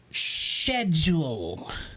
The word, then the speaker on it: schedule: The origin of the word schedule comes from the Greek word skedis, which is pronounced with an SK sound, not an SCH sound.